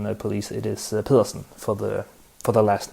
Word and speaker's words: Pedersen: win the world championship last year for the pronunciation the police it is pilsen for the for the last name i had